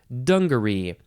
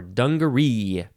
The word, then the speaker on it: dungaree: dungaree is next and you can emphasize the first syllable or the last syllable dungaree or dungaree noun from 1673 number